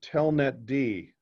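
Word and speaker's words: telnetd: with a service because the letter D is always on the end and it's pronounced separately. It's stated apart from the root word. So telnet D is how you would pronounce that, inet D, right?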